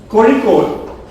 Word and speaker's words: Kozhikode: Or are you from somewhere close to Kozhikode? Thank God, I was leaning against the wall in the water, in the swimming pool. Otherwise, I would have fallen down. Surprise. Kozhikode, the name itself, it's the local name of